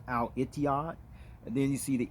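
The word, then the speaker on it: الاتحاد: in arabic right there as i mentioned actually that's pronounced al itiya and then you see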